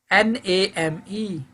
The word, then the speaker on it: name: silent example number one here is a n a m e name a is here E is at last e silent save shme lame number